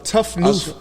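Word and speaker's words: tout neuf: know that oh for real yeah it uh tough new tough new means brand new in in in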